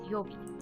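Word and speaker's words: 曜日: the previous readings, and the last two are actually used together and pronounced as yobi.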